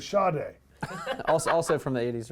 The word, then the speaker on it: Sade: Which rhymes with Sade.